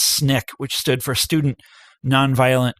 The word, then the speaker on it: SNCC: a group called sncc which is usually pronounced snick which stood for student